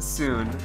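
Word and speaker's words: Tsuin: even know how to pronounce it it's called soon uh it is spelled t-s-u-i-n and it's basically a horror indie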